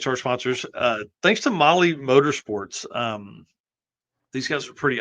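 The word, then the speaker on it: Mahle: And for those podcast listeners, Molly is spelled M-A-H-L-E.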